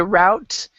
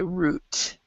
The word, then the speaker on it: route: So some people say route, and some people say route.